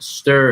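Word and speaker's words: Stur: And then Stir, it's actually S-T-U-R is the way the brand is spelled, and it's just a stevia sweetened water enhancer.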